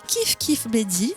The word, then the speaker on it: Kif Kif Bledi: projet couturel d'une compagnie des danses qui s'appelle kiif kif bladyy je le prononce bien parfait c'est super kiif kiif bladyy je vais vous lire leur introduction leur site